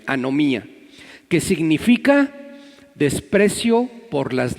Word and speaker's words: anomía: Se escribe anomía, así como suena, no lleva H y lleva acento en la I, anomía, que significa desprecio por las leyes.